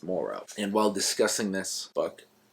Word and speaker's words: Moreau: of Dr Monroe Morrow I always want to say Monroe but it's not Monroe it's Moro and while discussing this